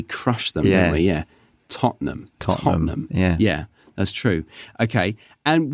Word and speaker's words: Tottenham: just say Tottenham like there's lots of letters there which we just completely forget about yeah yeah we crush them we yeah Tottenham totam yeah that's true okay